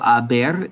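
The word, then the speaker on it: haber: tense so yo as the h is silent um you're just hearing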